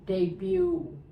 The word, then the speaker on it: debut: What arcade-style video game made players feel like rock stars, and what year did it make its debut. Sorry. Debut. It's not debut. The T is silent.